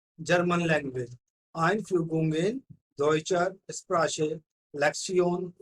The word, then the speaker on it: Sprache: This word Sprache, you can pronounce it like this: SPRAA plus CHE. Sprache.